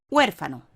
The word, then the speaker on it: huérfano: Las vocales U, A y O de la primera, segunda y tercera sílaba, respectivamente, son las vocales átonas, mientras que la E de la primera sílaba es la vocal tónica.